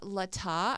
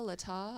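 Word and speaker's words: Latah: a total contradiction yeah on November 17th the Lata I think I'm pronouncing it right but l-a-t-a-h Ada Lata I'll say Lata because it sounds fancy yeah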